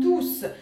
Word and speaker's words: tous: Учебник нам скажет, что если ту у нас является прилагательным, тогда S не произносим в конце, читаем ту. Если у нас ту является местоимением, тогда S в конце произносим, читаем туз.